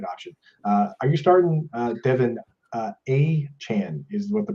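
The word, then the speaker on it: Achane: Are you starting Devin A-Chan is what the pronunciation.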